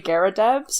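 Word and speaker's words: Garridebs: I think it's pronounced the three Garadubs. Is that how it's pronounced? Oh yeah, it's Yeah, it's three three Garubs.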